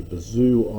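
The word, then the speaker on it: Bézout: now this last identity which relates them as i mentioned is called a bazoo identity the final t is silent and the last non-zero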